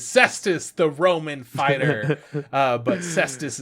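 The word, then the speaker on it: Cestvs: But Ssss is spelt with a V.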